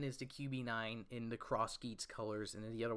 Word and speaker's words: X Geats: we're gonna make it X Geats, but it's Cross Geats pronounced. All right, yeah, thank you. Izanagi was a rumor for his name, but the actual name is Cross Geats.